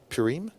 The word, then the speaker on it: Purim: their enemies in priem purim i think how you pronounce it is now celebrated for